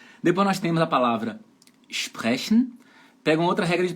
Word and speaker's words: sprechen: Depois nós temos a palavra sprechen. Pega uma outra regra de pronúncia aí, ó. Anotem, por favor. Anotem que é importante. S antes de P de pato e T de tatu soa igual ao SCH.